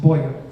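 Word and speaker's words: Bowyer: British arrived and that structural cohort would spell Bo ier here but actually spelled the OWI ER and pronounced Boyer with some outbuildings outside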